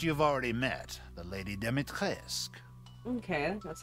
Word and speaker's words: Dimitrescu: The first you've already met, the Lady Dimitrescu.